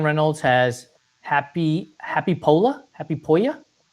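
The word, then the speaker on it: Hoppípolla: Happy Polya? Happy Polya. H O P P I P O L L A by Seu Roses, I believe is how he pronounced it.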